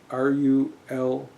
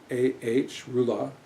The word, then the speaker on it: Rula: It's called Rula Cthulhu, R-U-L-A-H, Rula, R-U-L-A-H, Rula.